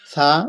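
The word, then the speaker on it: ثا: সা উচ্চারণ করতে জিব্বার মাথার আগাটা উপরে দুই দাঁতের আগার সাথে লাগিয়ে দেবেন, সা সা যেন না হয়, হ্যাঁ অন্য অক্ষর যেন না হয় সেই জন্য খেয়াল রাখবেন।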